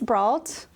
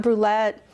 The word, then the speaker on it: Bralt: Technically, it's pronounced bro, like your friend who exclusively wears slides with socks and says bet after literally everything.